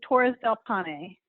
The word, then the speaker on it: Torres del Paine: you say is amazing so it's torres del paine how do we pronounce this the National Park is torres del Pawnee okay and it means